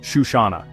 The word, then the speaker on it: Chisana: Our final stop is Chisana, pronounced Shushana.